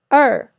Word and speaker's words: 二: This sound is similar to the ER sound in writer in American English, but it's longer. So raise your tongue a little higher and hold the position. So remember to pronounce it a little bit longer.